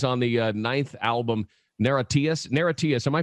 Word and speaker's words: NIRATIAS: Narratius, am I pronouncing that right? It's a made-up word. You can say it any way you like. Awesome. We say Narratius, Narratius.